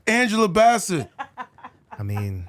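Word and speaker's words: Bassett: love for just just for the record Angela betet is uh 65 years old that's what I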